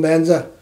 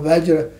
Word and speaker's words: Vajra: Then you say, Om Banza, Samanza. And that's a Tibetan pronunciation. In Sanskrit pronunciation is Om Vajra Samaja.